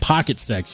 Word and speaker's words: Pocket SX: Ian says, Roll, Pocket SX is pronounced pocket sex.